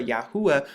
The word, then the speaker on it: Yahuwah: it now like this you see the yard hey ooh which makes the Yahoo sound and then the offer yahuwah which is the name